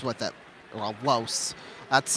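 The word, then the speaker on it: Lohse: Here's Laos with it. Well, Los, that's how it's according to the pronunciation guide.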